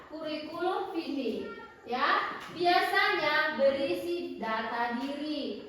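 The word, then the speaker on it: curriculum vitae: Kuriku atau dalam bahasa Inggrisnya disebut kurikulum vitae. Bacanya gitu ya, kurikulum vitae.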